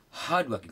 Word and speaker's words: hardworking: Instead, hardworking.